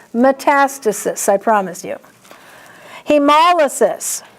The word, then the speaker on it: hemolysis: Hemolysis. There's only one way to say that word. The accent is mol.